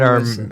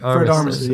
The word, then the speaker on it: Armisen: Fred Armisen. Armisen, yeah. I never know how to say his I name. think it's Armisen?